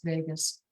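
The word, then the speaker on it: vagus: It's not spelled Vegas like Las Vegas. Um it's spelled v a gus like vot.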